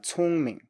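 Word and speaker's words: 聪明: And then we have 聪明, 聪明.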